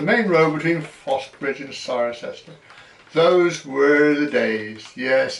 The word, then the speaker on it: Cirencester: I was at a loss as how to pronounce Cirencester, but one day in a class a student mentioned that he lived in Ciren. I said, where? He repeated Cirencester, and there I had it.